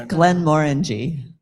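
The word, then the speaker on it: Glenmorangie: Uh, left coast speed 200 Terry for pronouncing Glenn Morangi. I've been skipping that word the whole night. I've been skipping that word. It's uh Glenn Morang. It's Glenn Moreny. Orange correctly.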